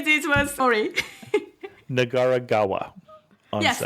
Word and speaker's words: Nagaragawa: yeah I tried to say this was sorry nagaragawa on Yes nagaragawa Yes gawa means a river in Japanese so